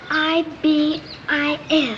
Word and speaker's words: ibis: I don't know how to say it it's i b i s ibus yes Ibis tell me something hiy where